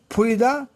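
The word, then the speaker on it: فرض: এর মধ্যে আরবি 3টি শব্দ আছে, যেমন ফে, রা, দোয়াদ, ফার্দ। আমাদের দেশে অধিকাংশ লোকে এই দোয়াদটাকে জোয়াদ ব্যবহার করে থাকেন। তার জন্যে ফরজ উচ্চারণ না করে ফরজ শব্দ আমরা উচ্চারণ করে থাকি।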